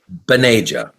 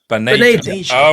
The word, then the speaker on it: Bhaneja: So please, you have not at all offended, but it's pronounced Bhaneja. Bhaneja.